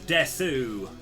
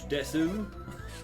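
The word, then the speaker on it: です: over the fact that you don't pronounce the U in certain words. So rather than being Rod Des, he was always like, Watashi wa Rod Desu?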